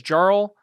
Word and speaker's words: Jarl: Jarl is pronounced Jarl dummy.